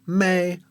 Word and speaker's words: Me: me which we PR which we spell like me in English but it's really me pronounced me or may like the month of May so that's the parallel